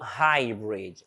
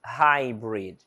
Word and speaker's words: Hybrid: ele tem som então Hybrid Hybrid Hybrid quer dizer híbrido e esse H iniciando uma palavra como a maioria das vezes tem som de R Hybrid Hybrid híbrido or